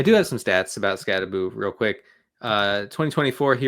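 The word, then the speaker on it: Skattebo: It is Scataboo. We've never been more back. someone actually pronouncing their name the cool way for once.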